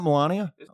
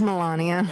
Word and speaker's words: Melania: her name's actually pronounced it's not you know it's not it's not milania how is it pronounced well now I don't know yeah it is Melania so you painted yourself